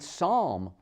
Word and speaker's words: psalm: in the middle cupboard with a p and psalm p-s-a-l-m consider the silent b climb comb crumb